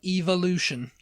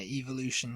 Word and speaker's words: evolution: The next one, evolution. Evolution, yeah. Yeah, evolution, yeah. Why E though? Evolution. Evolution. We don't know.